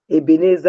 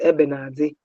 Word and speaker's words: Ebenezer: When you are mixing haves and has and pronouncing Ebenezer as Ebenazi, I can't bring you on board.